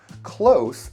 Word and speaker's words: close: Notice with this word, the S is actually pronounced like a Z.